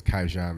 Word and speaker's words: Qyjon: my name is kaian my artist name is kijan the icon mostly because it Rhymes uh but also you